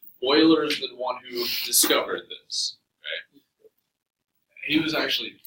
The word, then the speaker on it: Euler: naturally in nature sometimes Euler this name is pronounced boiler not user Euler Euler discovered this he was actually brilliant first names